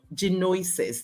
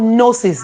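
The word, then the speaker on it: Gnosis: we didn't talk about J noises did I did I call that name right no it's called nosis the g is silent you see thank God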